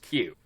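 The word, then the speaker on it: 九: a cue is that nine in Japanese is pronounced Q oh yeah it is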